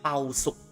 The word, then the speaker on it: 包粟: In Cantonese, we just call it 包粟.